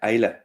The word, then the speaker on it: Islay: So we went to the Queen of the Hebrides, over to Islay, or as lots of people seem to just pronounce it, Islay.